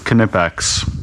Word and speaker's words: Knipex: at the booth and he was asking him how to say it and all the girls at the booth said it was knipex that just seems crazy to me I'm just going to keep calling them nipex cuz kpex is a